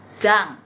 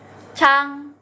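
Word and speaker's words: 张: nah kata hitungannya adalah kalau zh bacanya bukan Zang tapi Chang Cang pakai CH ya teman-teman ya Cang gitu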